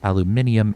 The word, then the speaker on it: aluminium: nicely out of aluminium aluminum is the American pronunciation aluminium is the British pronunciation by the waye for